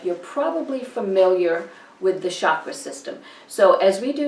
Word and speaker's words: chakra: basic review of the chakras. Now in Sanskrit they're pronounced chakra, and in English, if you've learned meditation or energy healing or something like that, you've probably heard them as chakra.